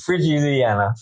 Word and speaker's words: Frigiliana: I'm here in beautiful Frigiliana. How do you say it? How do you say that? Frigiliana.